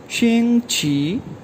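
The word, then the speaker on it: 星期: अच्छा, वीक को चाइनीज़ में कहा जाता है शिंग छी, XING फर्स्ट ऑन शिंग, QI फर्स्ट ऑन छी, शिंग छी, शिंग छी, शिंग छी, शिंग छी कहते हैं वीक को।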